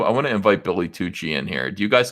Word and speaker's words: Tucci: Tucci. Like that. That's how you say it. Tucci.